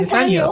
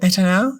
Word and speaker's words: Netanel: with which is Nathaniel my brain wants to say Nathaniel but that's but that's not how it's spelled so I would go with netanel and and netanel if